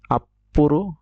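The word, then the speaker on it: アップル: তারপরে আরেকটি আছে একটি কাল্পনিক ব্যাংকের নাম, যেটা হচ্ছে আপ্পুরু, আপ্পুরু। এটা দেখেন ছোট ছো আছে, তাই এটা উচ্চারণটা উচ্চ থাকবে এবং এই উচ্চারণটা দিতে হবে।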